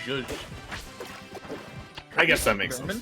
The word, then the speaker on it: Joux: Oh yeah, see, there's the pronunciation on the in-game tag. Yeah, it looked like zhuzh. It's just like what you describe when you add lemon to something. You give it a bit of zhuzh.